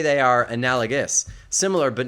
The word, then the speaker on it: analogous: Analogous. Analogous. Similar, akin, comparable. Yeah, a lot of people pronounce comparable, comparable, which is not correct, but it's become accepted.